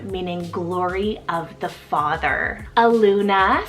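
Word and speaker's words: Aluma: a literary name meaning glory of the father a Luna spell a-l-u-m-a Luna this one's both a Polynesian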